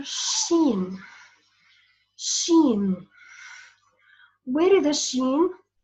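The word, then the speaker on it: ش: I wanted to know where is sheen. How can I pronounce letter sheen?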